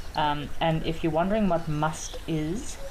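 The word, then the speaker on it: musth: And if you're wondering what must is, it's spelled M-U-S-T-H, and must is basically a period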